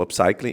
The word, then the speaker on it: upcycling: entender um pouquinho, que é o tal do upcycling. É assim que pronuncia?